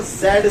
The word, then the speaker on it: Z: और इम्पीडेंस को हम लोग लेटर जेड से डिनोट करते हैं। कैसे? जेड। वैसे जेड का सही प्रोनाउंसिएशन जेड नहीं है, जी है, जी है ना, पर खैर जो भी अपन तो देसी है तो जेड ही बढ़िया है।